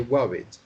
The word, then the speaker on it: worried: like let's say you so it's like ah as in up so it's wow yes